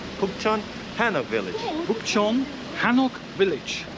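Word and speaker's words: 북촌: So we are going to Bukchon Village. That's correct. Is that correct? Bukchon Village, Bukchon Village, okay.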